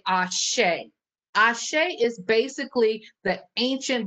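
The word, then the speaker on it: Àṣẹ: So I say Ashe, and that's spelled A-S-E with a little tilde over the E. Some people will throw an H in there.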